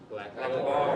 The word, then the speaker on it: blackboard: Blackboard.